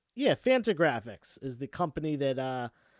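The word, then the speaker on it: Fantagraphics: this is from the ariz original uh what is it fanta graphics i want to make sure i pronounce this right yeah phantom graphics is the company that uh that um originally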